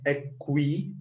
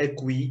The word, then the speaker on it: aqui: Some of you said aqui, okay, it's not aqui. In this case, we don't read U, so aqui, okay, we read it like this, aqui.